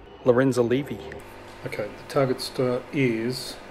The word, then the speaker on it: Lorenzalevy: later of course that i totally butchered the pronunciation of that asteroid it should be something more like lorenzo levy okay the target star